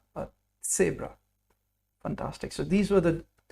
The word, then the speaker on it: Zebra: So you need to pronounce the T and the S in order to pronounce sat. So you'll hear me say sabra. I don't say zebra, but sabra.